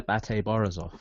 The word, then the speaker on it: BATE Borisov: Wait, is that how you pronounce it? Yeah, Bate Borisov.